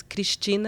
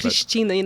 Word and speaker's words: Cristina: And then Christina in Portuguese is Cristina. It's quite hard to pronounce, and so it's like. It's not a word like... So it has a hard K on the well, front like Cristina, it's like...